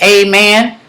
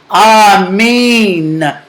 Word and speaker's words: amen: that a m n it is not amen it's Aman m n yes am m e e n a m e e n spells a mean that's what it spells that's how it's pronounced now what happened to